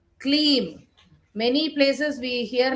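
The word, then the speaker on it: क्लीं: It is Ka, half Ka and Leem, Kleem.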